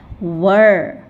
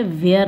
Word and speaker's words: were: तो हमने क्या पढ़ा वर आई होप आपको क्लियर होगा और अब से आप नेक्स्ट टाइम से वर बोलेंगे वेयर नहीं राइट यह एरो दिया